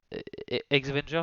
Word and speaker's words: X-Vengers: alors, je sais pas pourquoi je les ai mis dans cet ordre-là, mais on va commencer par les X-Vengers, X-Vengers, ça se prononcer comme ça, par Jason Lou